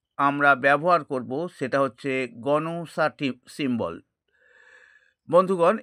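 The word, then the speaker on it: Gnosa: এরপরে তৃতীয় যে সিম্বলটি আমরা ব্যবহার করব সেটা হচ্ছে গনসাটি সিম্বল। বন্ধুগণ এটাকে অনেকে নোসা বলে কিন্তু আসল উচ্চারণ হচ্ছে এটি গনোসা জিএনও এস।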